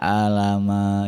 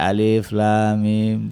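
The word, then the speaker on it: الم: Ada yang nggak ngerti baca alif lam mim, dibacanya alama ya Allah. Harusnya kan dibaca alif lam mim.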